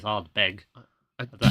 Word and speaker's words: Ardbeg: Yeah, there's no R at the end. It's Ardbeg.